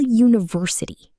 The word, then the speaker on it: university: For example, a university, because it starts with the U sound.